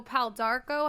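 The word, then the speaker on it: pau d'arco: and his jalapeno hawaiian chips awesome okay so pal d'arco how do you say the first one again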